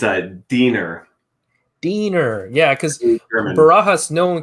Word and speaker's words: Diener: torment in my childhood my name literally rhymes with weiner my my brother's name is nick deaner nick deaner dick weiner